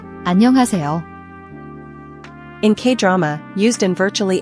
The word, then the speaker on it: 안녕하세요: The an-ha is often aspirated, like a soft H sound where you breathe out. Don't make it a harsh H. The part flows smoothly, almost like "hey-seo."